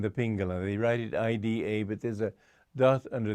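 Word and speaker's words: Iḍā: They write it IDA, but there's a dot under the I, and the way to pronounce that D with the dot under is R.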